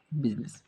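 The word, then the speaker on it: business: তো এটা আমরা কীভাবে মনে রাখবো? বুসিনেস, কিন্তু আমরা শুদ্ধ হচ্ছে কি বিজনেস।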